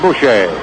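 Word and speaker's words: Bouchee: He spells his name B O U C H E. Edward Francis Bush or Bush. I think the pronunciation for his name actually is Bush.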